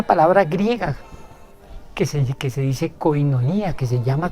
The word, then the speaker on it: koinonía: comparamos con una palabra griega que se dice koinonía que se llama koinonía que se pronuncia koinonía es una palabra griega y junto a esa